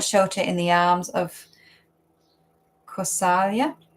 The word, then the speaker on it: Kausalya: in the arms of Kausalya. Is that how you say it? Yes, Kausalya. Conquered by her love and devotion.